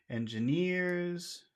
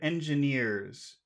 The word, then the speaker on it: engineers: pH in that word Engineers which which syllable has all of the sound engineers engine near that's right it's near near is the is the word with all the sound okay and also worked